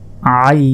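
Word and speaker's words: عين: এরপর হচ্ছে 4 আলিফ টান, আইন। হলকের মধ্যভাগ হতে, অর্থাৎ গলার মধ্যভাগ হতে এটি উচ্চারণ হবে, আইন, আইন, আইন, আইন।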